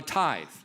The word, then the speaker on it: tithe: I heard the pastor talk about a tithe. 저희 목사님께서 예배 시간에 11조에 대한 이야기를 하셨을 때요. The English word tithe sounds like tie.